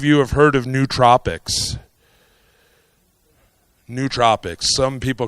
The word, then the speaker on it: nootropic: how many of you have heard of nootropics nootropics some people call it Noah tropic new nootropic but it's nootropic ultimately and and pronunciation really doesn't matter how many of you